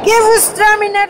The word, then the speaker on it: Gewürztraminer: Gewürztraminer 2008, ok. Madame, vous le prononcez très bien, compliment.